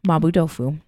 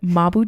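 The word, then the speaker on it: mapo tofu: I'm going to spell it for you so you know what it is. It's MAPO. Well, there's actually kind of a few ways. It's Chinese. Mabu. Yeah. Occasionally there could be a B. It just depends on how you Romanize it because it's a Chinese word.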